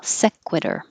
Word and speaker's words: sequitur: sequence and this one non-sequitur non-sequ make your lips small sequitur ethnic decay your tongue